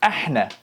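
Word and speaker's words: احنا: Now we go over here, we have ahna. Ahna. This again, the letter ha, the one where if you're cold, that's how you say it.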